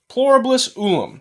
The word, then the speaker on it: pluribus unum: Okay, it's pronounced pluribus unum, which means one out of many, which means that they're going to take many and they're going to create one.